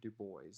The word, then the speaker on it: Du Bois: pronounce his last name du bois it's an americanized version but let's not get